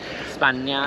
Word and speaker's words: España: España is how you pronounce it? España.